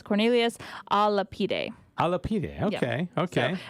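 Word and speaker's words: Cornelius a Lapide: By the way, Adrian did send me the pronunciation of the gentleman. It's Cornelius Alapide.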